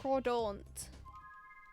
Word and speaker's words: Crawdaunt: Crawdaunt. It's the pronunciation. And then Crawdad. Because it's pronounced like taunt at the end.